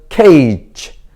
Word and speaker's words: cage: C는 K, A는 A, G는 J. 여기서는 J 이 소리가 납니다. E는 소리가 나지 않습니다. 그래서 cage.